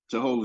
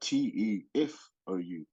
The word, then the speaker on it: Tehou: My mum spelled it Tehou instead of in Tokelau it's spelled Tefou, and F is pronounced Ho. So that's something else that I guess my mum didn't want people to call me Te Fo or or or whatever. So is F a solid H? Yeah, well, F is pronounced like an H Oh. in our language.